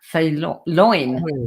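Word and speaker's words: O'Faoláin: And let me see if I can pronounce this right. O'Fearlin? Fréloin? Fréloin.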